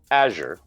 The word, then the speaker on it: Azure: to go and say it's actually pronounced microsoft azure azure yeah but again that's